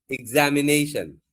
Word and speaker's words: examination: This, group, patient, apologize, apologize, plan, plan, specialty, effective, allowed, and the last one you have to say examination, not examination. You have to say examination. So, okay, children.